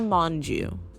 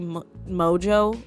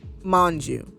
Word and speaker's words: Mongeau: I feel like I've heard it say Mojo, and I hear it like that a lot, but there's an N in there. There's an N in there. Mongeau. I think that's how you say it.